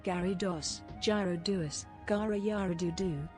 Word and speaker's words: Gyarados: This is how you say Gyarados, Gyarados, Gara Yara Doo Doo, G-Yaggle Smith Downsman,